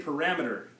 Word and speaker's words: parameter: parameters um everybody say parameter parameter where's the stress the strong syllable parameter rap second syllable that's the stress that's the strong syllable parameter which is the same actually as the Spanish okay so are there